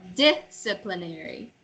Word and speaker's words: disciplinary: Disciplinary. Disciplinary. When you say disciplinary, you're putting emphasis on the pl part. Don't do that.